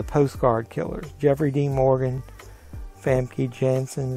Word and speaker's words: Famke Janssen: Jeffrey Dean Morgan, Famke Janssen, is how you pronounce her name.